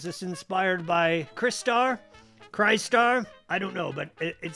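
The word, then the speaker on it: Crystar: again soon so keep a lookout for that cry star i always pronounce it cry star yes that's same same for me i i say cry star some people say cristar doesn't sound right but i think that is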